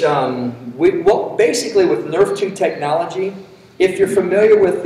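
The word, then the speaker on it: Nrf2: see something quick so just I say Nerf 2 it's spelled capital N little r little F the number two all that means in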